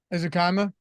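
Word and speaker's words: Ezukanma: Eric Izukanma? How do you pronounce that? You're a college guy. Ezukama.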